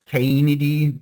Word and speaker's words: Caenidae: The family Caenidae, or Caenidae, depends on how you want to pronounce it.